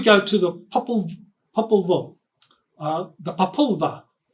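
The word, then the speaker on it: Popol Vuh: to the uh the papula I think is pronounced correctly papula Angelica is nodding her head so yes that's how you pronounce it so that's the May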